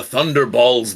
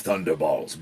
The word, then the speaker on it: Thunderballs: I'm Thunderballs the Third. From a long line of Thunderballs. Balls as BAWL, as in yell, not the testicle.